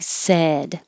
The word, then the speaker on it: said: which sounds like aid this sounds like said the vowel is e like head she said she's sad so if your jaw is open too much ah it could sound like sad so for the e